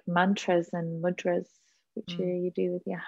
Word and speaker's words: mudra: So now you just mentioned mudras. What are mudras? Is that how you pronounce it?